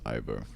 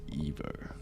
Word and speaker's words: Ivo: Because I would read this as Ivo. But it's Evo. Alright. Crank time. Stress is on the O.